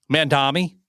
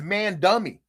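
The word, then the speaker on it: Mamdani: How'd you say his name? Mandami. I thought his name was man dummy.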